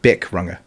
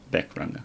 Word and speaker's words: Bic Runga: Was it Bic Runga? Was How it am I supposed to say that? Runga? Bic Runga. Beck Runga. Bic Runga.